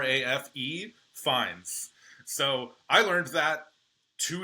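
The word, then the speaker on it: Fiennes: No, apparently his name is actually pronounced Rafe as in almost like R AF. Fines.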